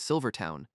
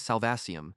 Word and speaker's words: Salvasium: Aa didn't catch the name clearly and asked again, thinking it was Silvertown. But Felina immediately corrected him, warning it was Salvasium, and for him to be careful if he mispronounced it again.